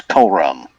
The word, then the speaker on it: Corum: That's Corum. Corum. Sorry. I just put the emphasis on the wrong syllables.